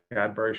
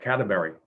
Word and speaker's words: Cadbury: business and he said he kept mispronouncing the name said i really don't want to work with uh category i said no it's cadbury said yeah cadeberry and he just couldn't